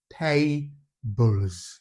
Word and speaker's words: tables: Now, take note of the word table, even though the word normally without the S ends with the letter E. However, the letter E there is silent. It's not pronounced, yeah? So the last sound of the word table is also the L sound, yeah?